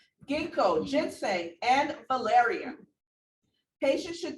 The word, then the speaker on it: ginkgo: i pronounce this or is it ginkgo or jinko ginkgo thank you ginkgo ginseng and valerian patients